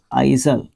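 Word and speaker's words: aisle: आप क्या कहते हो ए आई एस एल ई आइजल आइजल आइजल इस तरीके से आप इसको प्रोनाउंस कर सकते हो एमकेएबल और एमिएबल दो वर्ड्स आपको देखने को मिलते हैं।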